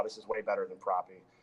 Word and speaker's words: Propy: Can you spell it out for me? Yeah, PROPY. Propy?